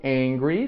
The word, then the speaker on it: angry: Muita gente confunde aqui o angry, do bravo, nervoso, com o hungry, com H-U, que aí é o de fome, tá? Então, cuidado. Angry com A, que foi o que